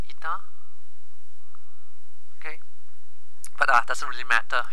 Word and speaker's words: eta: It's called eta. Pronounced as I-T-A, eta.